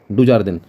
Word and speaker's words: Dujardin: Spelling मैं आपको बता रहा हूँ, आप लिख सकते हो, DUJARDIN, डुजार्डिन, ये इनका नाम था।